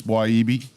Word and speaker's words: Wiyibi: We call it Weeby, but it's Wiyibi. Well, I think that's how you say it.